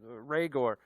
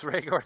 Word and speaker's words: Rhaegar: whether it's jefferson whether it's judy whether it's rhaegor uh i've never pronounced it that way targaryen yes rhaegar targaryen but it can happen quick is my